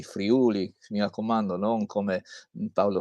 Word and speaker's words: Friuli: Succede che nel frattempo eh questa è la regione, come viene indicata, dalla guida del Touring Club che ha bisogno di mettere l'accento sulla U, quindi Friuli, mi raccomando, non come Paolo VI dirà per il Terremo se il Friuli.